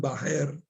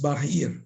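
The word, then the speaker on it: bahir: Por ejemplo, los devotos pronuncian Bajer en la canción Bajer Nirsingo Hridaye y es Bajir Nirsingo. Entonces, algún devoto al comienzo del movimiento la pronunció Bajer y así se quedó como sucesión discipular para los demás. Pero no es correcto, es Bajir. Bajir quiere decir fuera.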